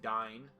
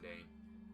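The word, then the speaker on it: Dáin: So I would assume that that means King Dine, as I think it's technically supposed to be pronounced. But everybody calls him Dane.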